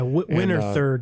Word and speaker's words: Winterthur: I think it's the pronunciation. Yeah, Winterthur, just outside of Zurich in Switzerland.